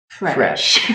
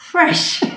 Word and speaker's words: Fresh: 참이슬 Fresh. We didn't even have to plan that one. 왜냐면 우리 친구들이 프레쉬 발음을 그러니까 F 발음을 보통 P읍이랑 헷갈리잖아.